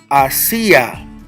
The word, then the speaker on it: hacia: Now keep in mind, I'm not saying Asia, because you have Asia, the continent, Asia. You have Asia, which means towards, which is spelled the same way as this one I have here, but the word is hacia.